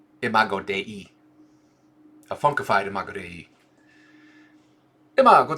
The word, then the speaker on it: imago Dei: Humanity as pixel, a funkified imago Dei. Let's Google that. M-H-O-D-I. Oh, interesting. It is Latin for the image of God. How do I pronounce that? Oh, there it was. Pronunciation. Imago Dei.